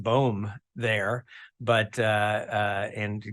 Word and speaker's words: Boom: became the Third Doctor boom this year I think it's a really cool name my wife's not so sure it actually is Flemish in origin my parents are from